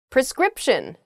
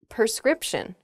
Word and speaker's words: prescription: jewelry we're too lazy prescription not prescription okay a prescription is